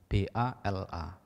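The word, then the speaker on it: bāla: Lalu ada satu lagi kata yang mirip, yaitu bala, B-A-L-A, artinya kekuatan. Nah, yang mirip kata yang lain adalah B-A panjang L-A, bala, artinya dungu atau bodoh.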